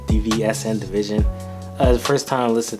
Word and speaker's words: DVSN: I believe it's pronounced DVSN Division.